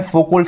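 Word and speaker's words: Foucault: फोकोल्ट, ठीक है? अच्छा, फोकोल्ट है लेकिन इसका प्रोनाउंसिएशन होता है फोको, एल साइलेंट होता है यहाँ पे।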